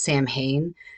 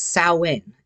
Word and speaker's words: Samhain: Many people think that it's Samhain, but it's not. It's Samhain, and it is in the Irish language, which is a living language that is used today by many people, myself included.